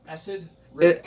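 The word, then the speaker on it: Esad Ribić: How do you pronounce it? Esad Ribic.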